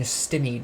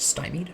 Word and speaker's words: stymied: sure you're not getting stimmy by some specific enemy actually isn't it pronounced stymied i think it's pronounced stymied anyways maybe i'll do